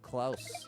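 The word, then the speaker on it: Klaus: It's on Netflix, but it rhymes with house likelouse. Oh, Clouse.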